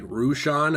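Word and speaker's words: Roshan: an assassin teacher named rushan who I believe I pronounced it right rushon a kind Persian viewer of ours in a previous video actually helped me pronounce that name and this student Mentor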